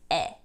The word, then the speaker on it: 의: Only in this particular situation is this pronounced as 에. And this situation is when it's used as a possessive particle.